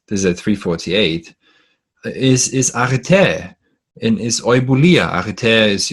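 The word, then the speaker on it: ἀρετή: Or a human being is arete. By the way, we weren't allowed to translate arete. Arete, I think, is a more proper pronunciation. Arete, but I'm going to say arete, which is usually translated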